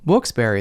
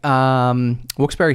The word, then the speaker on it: Wilkes-Barre: They're like, did you say Wilkes Bar? Yeah. A what? But I'd be like, Wilkes-Barre, Scranton.